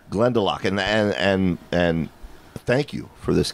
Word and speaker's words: Glendalough: Matt, how is this pronounced? Glendalough. Glendalough.